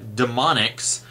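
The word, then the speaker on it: D'Monix: cochrane's father and he works for the company demonics D apostrophe m-o-n-i-k-s I think and of course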